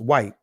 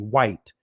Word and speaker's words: Wight: the Isle of Wight, excuse me, actually White. That's what it's pronounced, White. I see the GH and I'm just focusing on a G, but it's actually White, right? And on the mainland, right? Just not used to seeing white spelled this way, right? Used to WHITE, but not WGHT. It's still pronounced the same way, white.